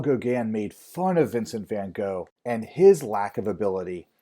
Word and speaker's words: van Gogh: Dutch painter named Vincent van Gogh, or as we Americans tend to pronounce his name, Vincent van Gogh.